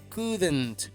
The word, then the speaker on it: couldn't: Y la pronunciación de la contracción negativa de could es couldn't, con una e, couldn't.